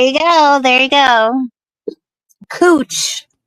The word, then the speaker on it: Couch: Cooch. That's how you pronounce couch.